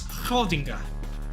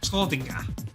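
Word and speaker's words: Schrödinger: I believe the correct pronunciation is Schrodinger. Schrodinger. Something like that.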